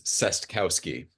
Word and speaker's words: Cestkowski: my last name is cestkowski the trick is to pronounce every letter yes it's saskowski reporter at k um